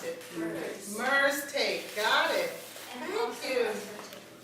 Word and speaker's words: Merze: How do you pronounce it? Merze.